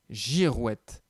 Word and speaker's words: girouette: Il s'agit de la girouette. Et là, tu vois que le G se prononce J parce qu'il est suivi par la lettre I.